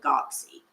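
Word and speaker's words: guanxi: of Chinese culture is I'm gonna spell it and then I'm going to say it GU a in X I now I may or may not be pronouncing this right but I pronounce it Godsey and this means good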